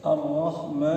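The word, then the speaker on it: الرحمن: Ada juga Ar-Rahman ya. Boleh begitu. Boleh Ar-Rahman disambung, tapi ini setengah alif ya.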